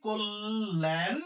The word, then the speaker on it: কল্যাণ: একই সিস্টেম কি সিস্টেম এইযে ল এর সাথে জফল আছে তাহলে ক এর সাথে যে অটা আছে সে এর উচ্চারণটা ও এর মত হবে তাহলে আমরা কি লিখব কোল লিখলাম ল এর সাথে জফলা তারানে ল দুইটা তাহলে ল এর সাথে জফলা আকার আছে তাহলে কি হবে কোল এখন এখানে প্রশ্ন হইতেছে